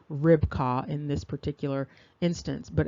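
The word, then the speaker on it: Ribqah: And here you see another entry with respect to Rebekka at 7259, and the name is pronounced Ribkah in this particular instance, but again, still identified as the wife of Isaac.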